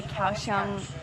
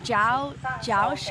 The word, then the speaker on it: Kaohsiung: of October and we just arrived at the couch on Oh ciao Josh um we've been saying it wrong zoo and